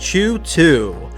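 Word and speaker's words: CHOOH2: with only one office, came up with the answer, Chu 2, pronounced Chu 2.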